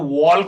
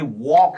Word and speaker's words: walk: वॉल्क नहीं है, ये वॉक है। तो साइलेंट क्या है यहाँ पे, एल हो गया। तो WALK में एल इज साइलेंट। तो उसका प्रोनाउंसिएशन क्या होता है, WAK, वॉक। L is silent, right?